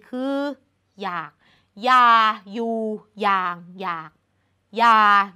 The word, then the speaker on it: อยาก: นำ และ สุด ท้าย อยาก เขียน อ นำ ย ก็ จริง แต่ เรา อ่าน ออก เสียง ว่า อยาก ซึ่ง มัน จะ เป็น การ อ่าน เหมือน หอ นำ ทั้ง 4 คำ เลย